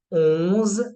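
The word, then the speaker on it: onze: दज दज then for 11 we have ओज again nasal sound because O plus A is nasal sound ओज ओज न फॉर 12 वी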